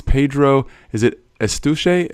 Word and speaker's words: Eustache: Is it Eustache? How do you say it? Yeah, Eustache, because it's like mustache with an E at the beginning.